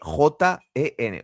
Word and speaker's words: Ognjen: Ognjen es Oggenjen.